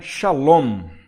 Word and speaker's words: shalom: tô falando a shalom olha a diferença salon no final tem 1 m aqui no final né então essa esse